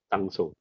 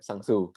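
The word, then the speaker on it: Sang-soo: Sangso. Sangso. Tulisannya Sungso ya? Sang SANG SOO. Bacanya Sangso atau Sangsu? Gak tahu gue. Iya, Sangsu. SOO soalnya. Ya, Sangsu.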